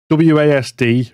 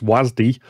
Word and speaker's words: W.A.S.D: april in london's tobacco dock uh the well wasd which we had been pronouncing was but apparently is officially pronounced wasde um the game expo in london which um